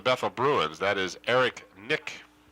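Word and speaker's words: Knick: bruins that is Eric Nick I assume that the K is silent yeah I would assume so pronounced KN I see our spell rather KN IC K and for those of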